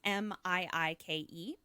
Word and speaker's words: Miike: I'm going to spell it because I'm not sure I'm pronouncing it right. It's Miike.